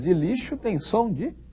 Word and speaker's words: lixo: se escreve com x o som do X de lixo é som de quê som de ch não o x de lixo tem som de X mesmo afinal das contas o